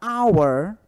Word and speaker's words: hour: casa Porém na palavra our hora tá o h ele não é pronunciado eu sou um DH